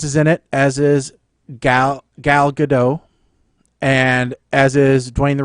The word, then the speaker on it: Gal Gadot: Is Gal Gadot. Gal Gadot. Yes, there's a T in there.